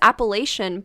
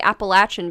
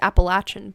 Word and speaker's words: Appalachian: I thought it was Appalachian, but it's actually Appalachian because it's named after a Native American tribe, I think. Oh wow. So it's pronounced Appalachian.